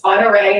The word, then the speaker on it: Ponderay: it's Ponderay and it's easier said than Yeah, what a way. spelled. There's no scenario in hell anybody in the right. If you don't know how to pronounce it, there's no way you're just getting that one right.